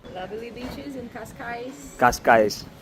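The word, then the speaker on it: Cascais: Lovely बीच इनका काशकाइस the pronunciation is कास्का। कशकाइस कशकाइस बट वी are Brazilian so are Portuguese from Brazil.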